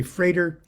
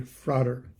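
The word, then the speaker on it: Frater: essay by froder akkad you'll notice that sometimes I say freighter and sometimes I say frauder early early on in my rosicrucian uh days uh it was uh pounded into my head that the pronunciation was freighter I don't know why I just respected the old person that told me that everybody else is frauder that's okay with me and I say frauder about half the time freighter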